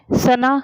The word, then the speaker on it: सुना: ये देखिए सना सना।